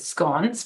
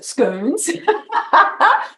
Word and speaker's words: scones: I see you know, we pronounce it scones, but some people pronounce it scoons.